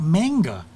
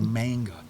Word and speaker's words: manga: It always comes out manga. Because it's M-A-N-G-A. Think of it as M-O-N-G. Manga.